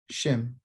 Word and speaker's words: Shem: Shem. but the proper pronunciation is Shem.